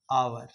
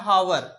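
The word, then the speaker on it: hour: जैसे आपको लिखा हुआ रहेगा आपको आवर लिखाता है हावर पढ़ाता है आवर। अब बताओ एच का उच्चारण हुआ क्या इसमें? बोलो नहीं ना हुआ? हम हावर पढ़ते हैं।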